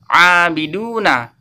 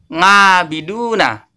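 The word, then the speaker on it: عَابِدُونَ: Ini yang benar membacanya abiduna, bukan abiduna atau ngabiduna. Jelas ya? Huruf ain tidak boleh dibaca dengan huruf a biasa atau hamzah. A itu tidak boleh, atau nga itu juga tidak boleh ya.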